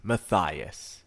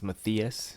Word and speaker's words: Mathias: interview is going to be with maias Vasquez maias that's how you pronounce his name and I have a feeling